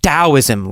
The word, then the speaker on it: Taoism: about it so it's spelled with a t but pronounced as a d I don't know why